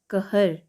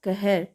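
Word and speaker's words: क़हर: ठीक है, क नुक्ता ह र कहर। क नुक्ता ह र कहर।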